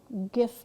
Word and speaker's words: GIF: a triar and that's our little GIF going on over there or GIF for some of you who pronounce it that way interesting part about a